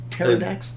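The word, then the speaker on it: Pterrordax: Or is the P silent? Pterodax? The P is silent.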